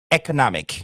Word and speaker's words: economic: Chez nous en anglais américain, c'est euh c'est plutôt un e é economic. Dans les deux cas, vous constatez que le stress, l'accent se met sur la troisème syllabe.